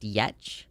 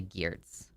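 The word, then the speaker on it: Giertz: So, her name is actually was originally pronounced Yetch. G I E R T Z Yetch. But she recently posted that that was confusing. So, she is changing the way that her last name is pronounced to Gears.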